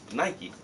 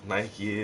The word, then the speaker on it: Nike: yeah yo Big Rob Nike is is supposed to be Nike yeah exactly that's how we say it Nike Nike not Nike or Nik a or it's Nike and I don't know I've